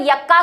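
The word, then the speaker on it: Yucca: तो इसमें अगर यक्का को ये नहीं मिले शलभ, युक्का या यक्का, ठीक है, क्योंकि एनसीईआरटी यक्का बोलती है, स्पेलिंग युक्का है इसकी, तो यक्का को अगर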